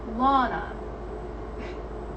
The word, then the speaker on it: Lana: Lana, like lawnmower.